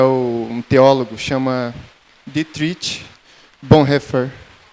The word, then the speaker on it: Bonhoeffer: que é um teólogo, chama Dietrich Bonhoeffer. Bonhoeffer, essa é a pronúncia.